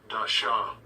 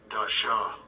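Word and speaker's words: דשא: 이 말씀 단어도 우리 한번 이 발음으로 원어적 발음으로 한번 들어보시는 것이 의미 있으리라고 생각되어집니다. Strong's H 1876. Dasha. Dasha.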